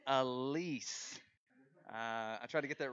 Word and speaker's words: Alyce: I got your name wrong earlier. It's Alyce.